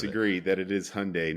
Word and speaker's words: Hyundai: It's Hyundai because it rhymes with Sunday.